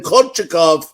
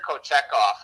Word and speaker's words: Kochetkov: But the guy that's been really impressing me, Jim, has been this Pyotr, I think he pronounces his name, Kochetkov, who is 7-0-1 in the month of December, was named goalie of the month.